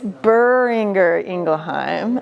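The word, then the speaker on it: Boehringer Ingelheim: it wrong so it's buringer ingleheim and if I was German any Germans in here no so if I was German there'd be a little bit of a more of an r guttural and I can't do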